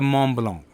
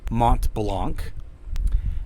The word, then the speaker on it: Mont Blanc: online but it's a m blong I know it's French and it's a lot of times pronounced Mont Blanc m o n t